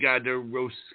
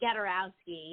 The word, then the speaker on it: Gadarowski: our guest today and I hope I pronounced your last name correctly is garosi is that correct ma'am ah hey yeah it's gadowski yeah thanks for having